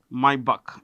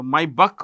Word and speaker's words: Maybach: it owns brands like Maybach. It's a super luxury car maker. So Maybach or Maybach, both are right in pronunciation. Okay, both pronunciations are right.